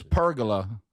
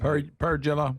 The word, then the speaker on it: pergola: It doesn't rhyme with Dracula.